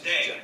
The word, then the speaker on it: 땡: The pronunciation of Nice. dang is similar to thang, which is the slang of thing in English.